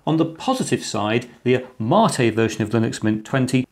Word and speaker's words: MATE: yes it is pronounced Marte and not mate as its named in Spanish after a South American drink in contrast to cinnamon